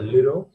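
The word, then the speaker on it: Lheureux: you know the french word a name it's pronounced as a liro and who lends her more and more money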